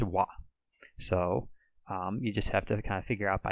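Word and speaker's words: は: is the character ha however when it's used as a particle it's pronounced wah so you just have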